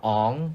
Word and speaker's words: Aang: It was like Aang. Aang to Ong.